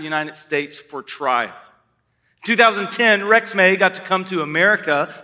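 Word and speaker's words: Rexmay: this is Rex may now you wouldn't necessarily pronounce it that way uh but it is Rex may I put in my notes re x m a y to be able to say it correctly you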